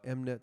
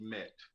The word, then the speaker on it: MMET: so it's so let's switch gears here uh mnet solutions right this is your business uh talk